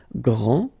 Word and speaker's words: grand: This final D is not pronounced. Okay, so grand, and then the feminine form, grande.